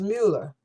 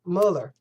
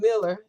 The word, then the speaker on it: Mueller: It's Mueller. Bob Mueller. Mueller. It's a U, not an I. He ain't Miller.